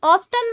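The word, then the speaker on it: often: हाउ ऑफन ऑफन मत बोलना। इसमें 30 साइलेंट रहता है।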